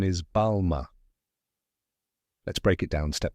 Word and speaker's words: Balmain: second part is ma with a soft nasal French n that you don't fully pronounce now say it with